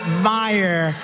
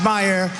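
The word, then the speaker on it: Meijer: I j e r but they pronounce it, Meyer the hell. Kind of a spelling. Is that Meyer? My shirt, It's my pleasure, but it's actually pronounced Meyer.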